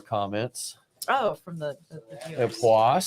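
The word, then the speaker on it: Époisses: That's what we told, but it's I'm told it's pronounced Epoisse. Yes. It's EPOISSES, and it's bringing the funk.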